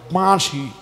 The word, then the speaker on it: বাঁশি: চন্দ্রবিন্দুর উচ্চারণ হবে নাক এবং দন্তের সাহায্যে, যে কারণে এটার নাম হবে বাঁশি। বাঁশি মানে বাঁ শব্দটা নাকে, শি শব্দটা দাঁত এবং জিহ্বার সাহায্যে।